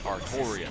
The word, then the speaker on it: Artoria: It's Artoria, not Altria.